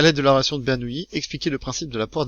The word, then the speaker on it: Bernoulli: On vous dit donc que, remarquez, d'après la relation de Bernoulli, alors ça s'écrit Bernoulli, ça se prononce Bernoulli.